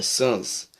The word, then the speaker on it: sans-culottes: Deixa eu dar uma olhadinha aqui se eu estou pronunciando certo a palavra. Isso. Não, perdão, é sans.